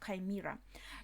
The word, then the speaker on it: chimera: in English chimera chimera okay in English it's pronounced chimera chief this is broadcasting all over Elbuff at the moment they are exposing themselves hunter village Northwest region.